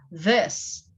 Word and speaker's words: this: A pronúncia é com a linguinha entre os dentes, this, ok, students?